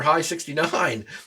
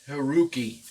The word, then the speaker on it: HI69: that is actually HI69 is actually pronounced Haruki, because the 6 and the 9 stand for, it's HI, and the 6 is Ru, and the 9 is Ki.